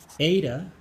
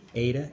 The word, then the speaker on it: eta: Okay, so eta is pronounced A, eta, A, and omega, O.